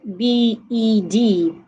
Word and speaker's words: bed: And I have BED, that is pronounced bed.